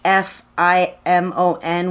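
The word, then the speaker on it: Thfimon: my favorite one is spelled t h f i m o n which is pronounced fimon so I was excited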